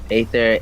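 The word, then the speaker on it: Aether: aier ather or ather ancient god pronounced ather is the personification of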